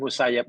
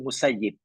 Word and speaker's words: Musayyib: Said ini bin musayyab ini tak suka dipanggil Said bin musayyab tapi lebih suka dipanggil Said bin musayyib tapi kebanyakan kita membacanya menyebutnya SY musayyab sebab maknanya berbeza J sekalian Kalau diartikan musayyab makanya Said anak orang yang tertawan atau yang ditawan anak tawanan kan hina kan kalau musayib yang menawan oh